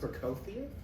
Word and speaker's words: Prokofiev: jazz cats they just procofia yes i know i just pronounced it wrong no you didn't okay that's correct it has a f on it yes an f or a v depending on it oh okay just like